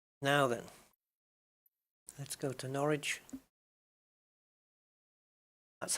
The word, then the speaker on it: Norwich: nice little flight so where are we going norwich nor which or which oh if i if